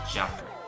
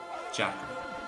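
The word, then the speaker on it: deacair: a slender Val therefore it's going to be soft kind of slur pronunciation it's going to be a j sound it's going to be Jacker Jacker the same thing going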